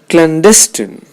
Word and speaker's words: clandestine: one of his students clandestine the stress is on the second syllable alacrity the stress is